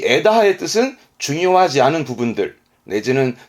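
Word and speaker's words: 枝葉: 그러면 발음은 에다하.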